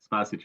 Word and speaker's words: Spasic: Spasic is the pronunciation, but honestly, like I said earlier, it's not a big deal.